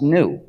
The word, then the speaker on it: gnu: according to the dictionary the g is silent and it's pronounced new so every time you